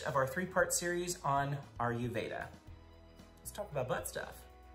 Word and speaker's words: Ayurveda: little video with me on air veda or i just said i made it i just said it wrong all right okay are you veda because you have a